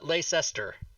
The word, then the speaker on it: Leicestershire: is in i'm going to pronounce it wrong leicestershire i don't know yeah i probably we would say that's pronounced we would say that's pronounced uh lace esther that's what we i don't know how to